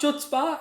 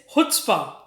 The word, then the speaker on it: chutzpah: Suddenly has become very popular, and yes, but the pronunciation is quite tricky. It's not chutzpah. It's chutzpah.